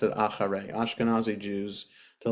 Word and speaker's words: אחרי: So I just want to point out, if you pay attention, you hear the letter chet is pronounced a little bit different. So acharei, I pronounce it acharei.